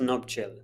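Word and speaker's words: nuptial: और हमने मंगलसूत्र को इंग्लिश में थ्रेड कह सकते हैं, या the right word is नुप्टियल chain. नुप्टियल chain. So the correct pronunciation is नuptial.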